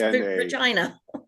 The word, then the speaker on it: Regina: Rhymes with vagina. Regina. The city that rhymes with fun. Like Regina, but it's Regina.